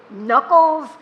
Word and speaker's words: knuckles: And what about all the words that should begin with an N but begin with a K? A K. Of all letters, a silent K. Knuckles, knickers. Why don't we say the K? I don't canoe. I don't canoe. The K is just sitting there with nothing to do.